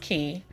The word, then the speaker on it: Quay: called key it doesn't you wouldn't gather that from the way that it's spelled but cuz I was just like Quay what I said but it's pronounced key um but the the